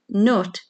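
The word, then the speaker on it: Cnut: And number 10, where in the northeast did King Nut allegedly have his hair cut in the year 1031 before visiting St.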